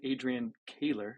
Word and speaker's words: Adrian Koehler: We have a very special guest on today, Adrian Koehler, which I just learned something new about you. Did I pronounce it right this time?